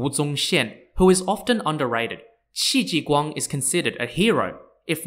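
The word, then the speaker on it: Qi Jiguang: comes into the story the second person's name is spelled q-i-j-i-g-u-a-n-g unlike Shin who is often underrated XI ji Guang is considered a hero if not the main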